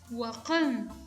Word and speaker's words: huacan: relajada que acá aparece, vamos a pronunciarlo como A, la A que pronunciamos en idioma español, aunque la correcta pronunciación es huacan, huacan, suena entre A y E.